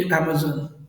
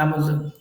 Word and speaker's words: Amazon: ये अमेजन, इसकी pronunciation अमेजन, अमेजोन नहीं बोलते, ठीक है इसको।